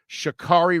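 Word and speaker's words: Sha'Carri: um the i want to make sure i pronounce her name the right way shakari richardson i don't know if you guys saw the story but shikari richardson has been suspended pretty much from the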